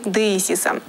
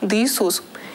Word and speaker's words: деисис: Второй ярус – иконы деисиса. Слово «деисис» в переводе с греческого «моление». В русском быту это слово иногда искажается и произносится как «деисус».